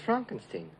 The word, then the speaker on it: Frankenstein: Frederick frogenstein the Frankenstein Frankenstein you're putting me on no it's pronounced Frankenstein do you also say Frode Rick no Frederick